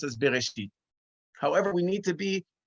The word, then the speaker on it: Bereshit: So the opening word of the Torah is now pronounced as Bereshit.